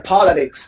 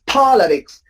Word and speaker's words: politics: Politics, first syllable. First syllable, yeah, politics. Very good. Here are the words that I often heard my students pronounce wrong. So that's why I put them here. Very good. Number 3 is politics. Please don't say politics, okay? Politics. It's so tempting to pronounce that way, but it's wrong.